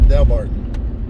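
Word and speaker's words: Delbarton: would be part of del barton yeah i think this is del barton so as they pronounce it here dale barton how big is this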